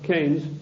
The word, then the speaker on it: Keynes: or Keynes he said Keynes was a better word because it arrived with it rhymes with brains and this is a